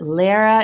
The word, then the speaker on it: Lara: me they're like so how do you say is it Lara is it it's Lara but whatever I've been